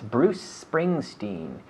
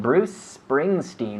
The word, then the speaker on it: Bruce Springsteen: performance in performer performer in the 80s yes bruce springsteen be careful with the pronunciation bruce springsteen was a popular performer again bruce prince princeton